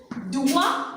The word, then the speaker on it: doigt: Doigt. Le T avec le son moi, ça donne doigt.